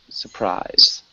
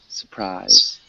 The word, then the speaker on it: surprise: So one small thing, when we say surprise, we don't actually pronounce that first R. So it sounds more like surprise. Surprise.